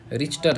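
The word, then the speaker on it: Richter: बोलते हैं रिएक्टर scale spelling देख लो रिएक्टर किसका है रिचर है एक्चुअल में क्या है आर ई सी एच टी ई आर रिचर क्या है भाई रिचर ठीक है रिचर रिएक्टर स्केल बोलते हैं बट ना स्पेलिंग क्या है रिचर है समथिंग केप्ट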